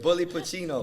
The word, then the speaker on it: Bully Pacino: the big bully Pacino. What? Bully Pacino. Did I say it right? Did I say it right? That's good. Bully Pacino.